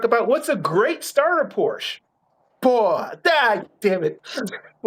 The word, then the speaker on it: Porsche: You can't pronounce it right. It is for our viewers. Everyone, it is Porsche.